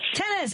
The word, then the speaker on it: Tennis: last name my friend it's pronounced just like the sport tennis tennis and Tennis is running